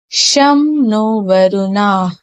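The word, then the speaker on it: शं नो वरुणः: The emblem of the Indian Navy contains the motto Sam no Varuna, pronounced Sham no Varuna, which means be auspicious to us, O Varuna.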